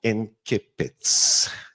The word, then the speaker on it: incipit: you all know the importance of incipits or incipits. I don't know how you folks would pronounce it. It's incipit in Latin.